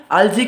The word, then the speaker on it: algae: algae जो है, इसे कुछ लोग algae भी बोलते हैं, लेकिन हम इसे algae बोलेंगे, ठीक है, क्योंकि प्रोनाउंसिएशन तो algae ही ठीक रहेगा।